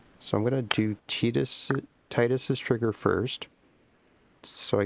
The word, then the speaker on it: Tidus: Apparently, it's pronounced Tetus, but that sounds gross. So, I'm gonna say Titus.